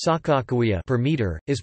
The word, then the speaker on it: Sacagawea: The compound is written as Kagagawea bird woman in modern Hadatsa orthography, and pronounced Sakakawea per meter, is pronounced W between vowels in Hadatsa.